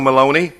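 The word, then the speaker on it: Meloni: Maloney, you know Maloney? Rhymes with baloney.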